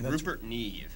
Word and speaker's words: Rupert Neve: who who watch would know who that is Rupert Neve am I pronouncing it right that's right that's okay Rupert Neve that's Rupert's card anyway but that's the god